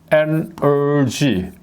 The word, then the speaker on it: energy: 원어민들은 절대로 에너지라고 이렇게 발음 안 합니다. 그래서 이제 보면은 우리 영어 훈민정음 안에 에너지를 찾아보면 이 에너지는 뭡니까? energy 이렇게 되는 거죠.